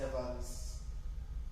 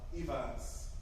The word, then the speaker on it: Yfans: meet here is the youngest son of House Evans, a boy named Tomos, Tomos, Yfans. House which? Evans. Okay. Can you spell that again, please?